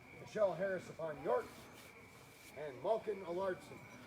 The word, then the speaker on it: Alardson: Amanda Spencer, Heloise DeBeck, Michelle Harris upon York, and Malkin Alardson. Allardson. He's putting the emphasis on the wrong syllable.